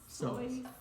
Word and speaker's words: psoas: okay, so the anterior muscles, iliosois Psoas. Yeah. group. So the okay. P is silent.